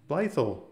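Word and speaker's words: Blytheville: So over here we got Blethel or Blethel and Blythel, like the locals say it amazingly well.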